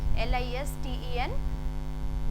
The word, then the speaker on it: listen: LISTEN, listen. कोई भी इसे listen नहीं बोलेगा because T is silent.